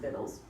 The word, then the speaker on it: victuals: some blah blah manner for victuals, pronounced victuals, so that nothing shall lack.